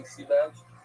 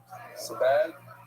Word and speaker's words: Sebag: Anonymous in honor of the wedding of Yoni Sebag, that's how you pronounce it. Sebag, Yoni Sebag, and Eliza Brand, you say?